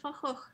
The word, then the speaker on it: Van Gogh: And I had trouble pronunciation of Van Gogh, or that's like how and then I was like, I will just do my Dutch pronunciation. Vincent van Gogh, yeah.